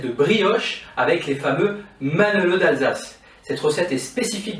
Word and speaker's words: Manele: Il peut avoir plusieurs prononciations avec un seul ou deux N, on peut l'appeler Manala, par exemple dans certaines régions, ou avoir d'autres noms. Mais sa spécificité est qu'il